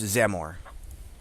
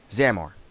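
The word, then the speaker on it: Xamor: a m o r x a m o r you want to pronounce that again real quick zamore zamore yeah okay the Z instead of but spelled with X got it all right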